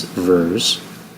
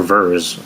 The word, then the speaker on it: Vers: Why don't you just call her Vers? Vers kind of sounds like it's spelled with two E's or EA.